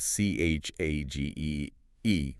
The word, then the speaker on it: Chagee: Today, she works for Chagee. That's spelled c h a g e e, by the way, but pronounced Chagee.